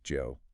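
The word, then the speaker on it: Zhou: shii shgi yep and Zoo Dynasty is Joe Joe Dynasty that's right yeah just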